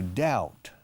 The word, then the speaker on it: doubt: Because to doubt, D-O-U-B muda, D-O-U-B-T, to doubt is no creer del todo.